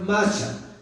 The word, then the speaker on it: Mashiach: Y la palabra Mesías venía del griego, del hebreo, que es Mashiach, M-A-S-H-I-A-H. Se la repito, M-A-S-H-I-A-H, la última parte es che, entonces es muy difícil pronunciar. Dicen que se pronuncia Mashiach, significa el ungido.